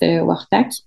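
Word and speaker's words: Quaqtaq: wartac qu'on appelle donc ça s'écrit quakac mais ça se prononce WAC ok euh c'est un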